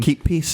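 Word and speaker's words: kippis: So, what did you get up to in Keep peace is how you say cheers in Finnish.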